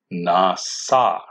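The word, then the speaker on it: נשא: But this word is also spelled with a shin, but the shin is still pronounced with an s, nasa.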